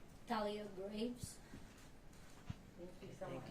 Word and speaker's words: Thalia Graves: Do you wanna pronounce your name? Thalia Graves.